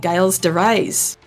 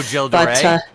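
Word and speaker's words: Gilles de Rais: But, I mean, let's be honest, they could do John Morris and Eric Lacard fighting Giles de Rais, from 64. Oh, Jill de Rais? Sorry, that's how you pronounce it.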